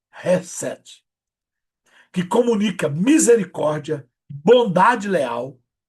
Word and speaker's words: Chesed: Se escreve Chesed, mas se lê Hesed, que comunica misericórdia, bondade leal e amor comprometido.